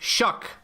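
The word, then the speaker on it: Shough: Why is the QB named pronounced shock? It is clearly not spelled anything like that.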